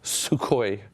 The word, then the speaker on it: Sukhoi: Yeah, Like, and that was a Sukhoi very, still exists. They have they're still a company, so that's how it's pronounced.